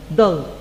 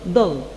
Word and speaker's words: doll: dull as you see this word has Double L and you should pronounce it like only one L dull dull dull it's a child's